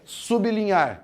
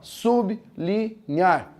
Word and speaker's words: sublinhar: Se você pronunciar assim corretamente, você ia separar errado. Então agora veja, também não é pra você dar uma de idiota, falar assim, eu consigo falar assim, ó, sublinhar. Não dá. É para você pronunciar bem pronunciado ali, com uma pronúncia aberta, articulada, para chegar isso aqui.